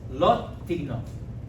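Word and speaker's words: לא תגנוב: Wait, how do you pronounce it? Law what? Lot tignov.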